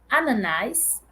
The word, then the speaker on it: ananás: lama lama sal banana Ananás na minha pronúncia é Ananás né na pronúncia de outros dialetos do Brasil pode ser ananá ganha e ganhador alofonia